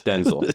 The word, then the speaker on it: Denzel: We've actually learned it's Denzel. Yeah. What is Denzel? Which honestly I like because it rhymes with Stencil.